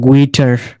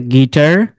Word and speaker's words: guitar: parliament, biscuit, build, circuit, disguise, antique, guitar, guide, good, আমরা কি বলতাম? গুইটার, তাই না? এটা হচ্ছে গিটার, কিন্তু লিখতে গেলে আপনাকে গুইটার লিখতে হবে।